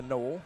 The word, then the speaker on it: Noel: that is jared noel they're saying his name jared knowles so i think i'm probably saying it wrong yeah it's it's uh noel that's right noah i'm sure you're